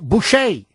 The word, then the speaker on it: Boucher: His name is René Boucher, obviously of French heritage or French descent. So he kept the French pronunciation of his last name.